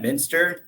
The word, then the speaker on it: Muenster: My name is Matt Muenster, so not pronounced like the cheese.